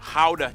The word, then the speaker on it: Gouda: And the pride and joy of the nation, Gouda cheese. Yep. That's how you pronounce it, guys.